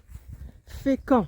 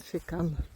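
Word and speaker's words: Fécamp: Фекон произносится по французски, а по-русски, наверное, говорят фекан.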